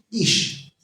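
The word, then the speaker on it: איש: Ish.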